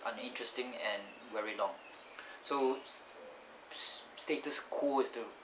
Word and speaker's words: status quo: status quo it actually status core is it pronounced status core or status queue status course quo or status queue q that's